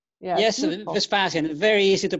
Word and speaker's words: Vespasian: murder it uh so John say that again vpan yes vpan very easy to pronounce vpan it's very easy to pronounce that's